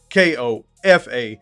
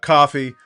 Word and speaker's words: Kofa: Once again, I'm your humble host, Kofa, K-O-F-A, not coffee, not Kufu, not Kofi, or any variation thereof. Kofa rhymes with sofa, easy to say, easy to spell.